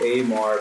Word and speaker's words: Amar: I actually like to pronounce it Amar, but I mean, my bad. No, it's cool. Like Mitch Durrell, that's a homie. He pronounces it Amar too on his YouTube reaction videos. But yeah, I've been meaning to say it's actually Amar.